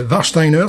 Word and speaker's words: Warsteiner: Ouais, ça c'est Warsteiner, ça s'écrit W-A-R-S-T-E-I-N-E-R.